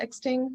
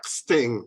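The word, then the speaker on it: X-Ting: say it like that exting or is there how is it spelled x-t-i-n-g yeah sting you know just like treat the x a little bit like a click you know okay that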